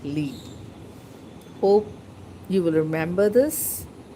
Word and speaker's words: Li: from Live Life with Lee. Many people are not able to pronounce my channel. Some pronounce is like Live Life with Li, but actually it is Live Life with Lee.